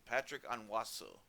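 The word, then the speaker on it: Patrick Onwuasor: touchdowns defensively i finally found out how to pronounce his name patrick onwasso i've been struggling with that uh this whole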